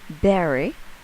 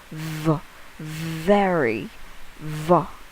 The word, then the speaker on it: very: If your student's pronunciation with the word very is berry, that means you have to focus on how she could make the V sound.